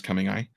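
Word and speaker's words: cumingi: She's a yellow-headed Asian water monitor, Varanus coming eye. You said it right. Coming eye.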